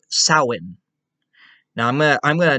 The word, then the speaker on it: Samhain: no it says samhain they like entirely ignore the m and the h and i think the a so basically you could